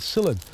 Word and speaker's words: psyllid: is an insect called cylinder it's spelt with um well it's yeah it's pronounced silly but it starts with a p p s y double